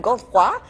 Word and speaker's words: Godefroy: Also with us, Julian Godefroy, who is a TV show host and also cellist.